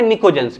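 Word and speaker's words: pnictogens: क्या हो गया, कहां पर, पी साइलेंट है, पी साइलेंट है, निकोजेंस।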